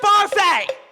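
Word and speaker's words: Barfée: Barfy. It's pronounced Barfay!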